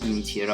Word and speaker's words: Ginichiro: This is pronounced Ginichiro. What? Ginichiro, Ginichi. Chi. Yes. Not she.